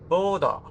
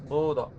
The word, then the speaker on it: Bodø: Well, it's written with the O, which is crossed out, and yeah, it's probably pronounced like I tried it to do.